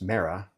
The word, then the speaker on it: Mera: So in in English, we know her as Mera, but in espanol she's Meta.